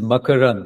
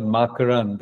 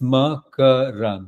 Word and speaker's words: Makarand: And it is Makarand. It's not Makarand, as Okay. Rakesh says, but I don't Yeah. mind. He's Americanized it, making it Makarand, but because I wanted to know what the right way to say it was too. yeah, So it's Makarand.